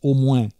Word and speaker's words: au moins: Car il faut vous dire qu’à Tarascon toutes les phrases commencent par et autrement, qu’on prononce autremain, et finissent par au moins, qu’on prononce au mouain.